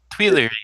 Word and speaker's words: Tuileries: How do you pronounce that? The Tuileries? Tuileries, actually.